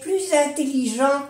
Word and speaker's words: plus intelligent: Entonces sí que se hace la unión, la liaison, y se pronuncia la S pero como una Z.